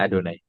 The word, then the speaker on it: Adonai: Ya, dan waktu saya bilang Adonai itu saya bacanya Adonai, tapi tertulisnya adalah Yod He Vav He.